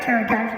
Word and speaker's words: pterodactyl: You can't hear a pterodactyl going to the bathroom because the P is silent.